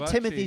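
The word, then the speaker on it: Timothée: here's the remains of Timothy sh bones rattling around in a pencil case little tiny pencils why do people say his name is timot it's a French it's a French spelling no who's saying timot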